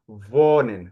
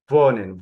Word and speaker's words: wohnen: To talk about where you live, use the verb wohnen. Remember, I told you W is V. Wohnen.